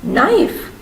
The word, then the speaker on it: knife: silent l next one knife knife knife has a silent k next one listen listen